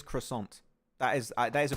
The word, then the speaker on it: croissant: say that in English so if you want to say in English the proper way is croissant that is that is